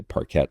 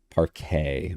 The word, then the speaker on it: parquet: said marble floor wooden I say parquette floor is that how I pr pronounce that I'm not cultured you going to need to help me kind of like a very flat shiny paret paret okay thank you for those